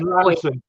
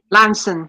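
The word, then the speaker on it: Launceston: People don't know how to pronounce Foy. Yeah, Foy. Yeah. It's like Fowy. Yeah. That's Lanson. Lanson, that's it, and Snozzle.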